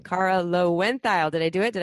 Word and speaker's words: Loewentheil: episode time and I just learned the proper pronunciation of Cara's name Cara low went dial did I do it did I do it